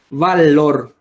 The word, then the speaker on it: valor: tiene dos sílabas sé dónde se carga la voz en la segunda sílaba que vendría a ser